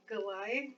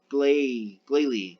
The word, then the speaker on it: Glalie: Galay. Galili. Galili. No, Galay, like glacier. Glalie. Okay, so. Glalie, that's what it is.